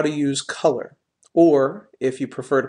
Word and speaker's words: Kuler: is how to use color or if you prefer to pronounce it differently how to use cooler the website we're referring to in today's session is cooler.